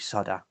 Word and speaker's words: solder: american friends you know you don't pronounce the l in solder you call it soda is this called a